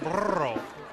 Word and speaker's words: burro: I think you're supposed to roll your R's on them when you say Okay, burro.